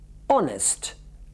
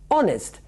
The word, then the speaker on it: honest: Fíjese, palabras que incluyen una H en las que en inglés no se pronuncia. Por ejemplo, honest. A ver, fíjese, honest.